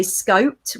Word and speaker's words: SCoPEd: knows where they go but also the pronunciation of it some people say scoped some people say scoped we're going to go for scoped Peter and I have decided anyway the panelists do whatever